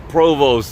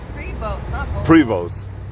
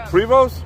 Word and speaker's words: Prevost: look at you driving this sexy ass Provost that's awesome Prevost that's how you pronounce it Prevost privos it's beautiful is it private